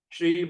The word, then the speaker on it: Shri: Shri Bhagavan Uvacha. See the word S at the apostrophe. How are we going to pronounce? Shri. S-H-R-I.